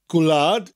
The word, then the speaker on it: Gwlad: Gwlad bairdda chantorion, enwogion o fri. Gwlad is gw and lad together.